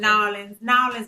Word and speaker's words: New Orleans: You're not supposed to say New Orleans. Okay. New Orleans, baby. That's how the locals I will say it like somebody from Los Angeles.